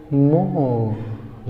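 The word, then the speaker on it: more: यहाँ are silent होता है, क्या पढ़ेंगे? मोर। लास्ट में आ का साउंड आएगा, मोर। ठीक है दोस्तों, आइए देख लेते हैं क्या लिखा होगा?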